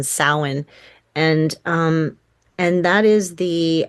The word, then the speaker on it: Samhain: A lot of people call it Samhain, but that is not how it's pronounced. It's actually a Gaelic pronunciation, Samhain, and and that is the actually the pagan New Year.